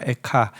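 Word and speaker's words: איכה: 탄식으로 시작합니다이 슬프다라는 탄식은 원어의 발음이 카인 어 그래서 한글도 이제 어 그 슬픔의 노래라는 한자어 애가와 또이 원어가 에카 비슷하기 때문에 이렇게 제목을 이렇게 또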